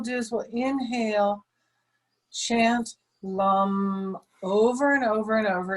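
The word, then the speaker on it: lam: the root chakra is lum l-a-m kind of rhymes with thumb lum lum so we're going to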